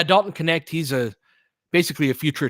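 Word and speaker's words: Dalton Knecht: Because I read it, I was like Dalton Necht. I thought the K was silent, and uh, Mike graciously corrected my pronunciation. It was like, yeah, Dalton Connect.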